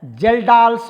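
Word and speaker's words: Kjeldahl: पहला होता है जी डुमास मेथड और दूसरा होता है जेल्डाल्स मेथड। ओके, के का प्रोनाउंसिएशन यहां पर नहीं होता है। पहला होता है डुमास मेथड और दूसरा होता है जेल्डाल मेथड।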